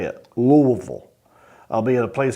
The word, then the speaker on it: Louisville: Louisville Kentucky and that's how you say it Louisville I'll be at a place called laugh Louisville